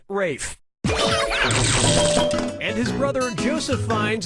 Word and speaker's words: Ralph: 3 yeah ray finds first name is spelled like Ralph but pronounced Rafe and his brother Ragusa